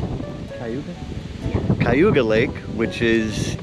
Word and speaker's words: Cayuga: Is that how you pronounce it? Cayuga?